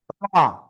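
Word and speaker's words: ر: র। এই অক্ষরের নাম কি? র। জিহ্বার আগার পিঠ তার বরাবর উপরে তালুর সাথে একবার বা দুইবার এরকম লেগে উচ্চারণ করতে হবে। র র, মোটা আওয়াজে একালিপ টেনে উচ্চারণ করব।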